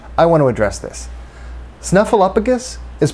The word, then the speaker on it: Snuffleupagus: Snuffleupagus is pronounced with one F sound. The third syllable is pronounced up, like the Pixar movie.